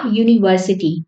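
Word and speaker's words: university: यूज करा है ऐसी ऐसे ही आ यूनिवर्सिटी तो यू में यहां पर यू वाई ओ यू वाली ध्वनि आ रही है तो इसलिए हमने इससे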